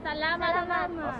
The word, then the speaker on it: Salamat: Salamat.